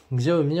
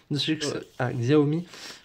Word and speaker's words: Xiaomi: Xiaomi, regardez, une coque en titane, noire, très très jolie, franchement, très belle coque.